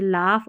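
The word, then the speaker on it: laugh: GH फ और silent, जैसे लाफ और नाइट में साइलेंट है।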